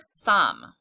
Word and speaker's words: some: The E is silent, but the vowel does not say O, it says some.